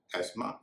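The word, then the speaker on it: asthma: में गड़बड़ी नहीं करेंगे आखिर में एस्मा यामा जिसे कई लोग अस्थमा बोलते हैं वहा भी उसका उमा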